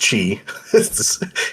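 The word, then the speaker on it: χ: Chi. It's pronounced Chi.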